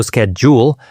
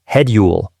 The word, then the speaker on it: schedule: Another example is the word schedule. In American English, the SCH sound is pronounced like esk, so schedule, while in British English, it's pronounced headule.